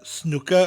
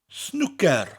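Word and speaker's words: snwcer: similar to the english its snooker with a rolling ER and each syllable is said evenly snooker snooker that little rolling out at the end snooker now you know how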